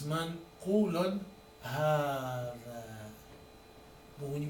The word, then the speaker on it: هذا: وverily it's منقول هذا, but when you pronounce it, it's pronounced long.